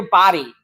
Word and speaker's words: Body: So body pronounced it like body. Okay. It's Peter Body. Oh, you're being corrected. I am corrected. I like that. I don't want to mispronounce his name. Thanks, Joe. So, Peter Body, not B.